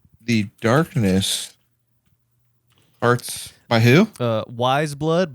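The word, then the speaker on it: Weyes Blood: Wise Blood, but you spell it WEYES.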